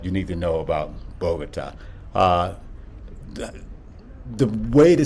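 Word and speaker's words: Bogotá: called it the same thing, but it is pronounced Bogota.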